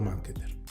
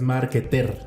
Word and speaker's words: marketer: y ahora eres growth marketer. Ay, me atoré. Growth marketer. ¿Cómo? ¿Ok? Growth marketer. Ajá. No es market como la vez pasada, es marketer.